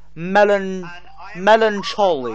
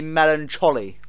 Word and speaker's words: melancholy: It is pronounced melancholy, but technically it should be an A rather than an O.